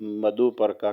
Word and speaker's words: मधुपर्क: और ये है UK के अंदर हिंदू मैटर्स इन ब्रिटेन नामी YouTube चैनल पर पंडित हरिओम की मधुपर्का के मतलब वजाहत। Right? Have I pronounced that right?